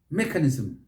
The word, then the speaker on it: mechanism: how about this one mechanism mechanism mechanism stress is on that first syllable so don't say mechanism